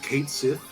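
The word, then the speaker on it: Cait Sith: It's pronounced Kate Sith.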